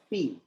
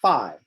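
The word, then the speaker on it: phi: all the way around that will be a fee or a five depending on european versus american pronunciation i've heard it pronounced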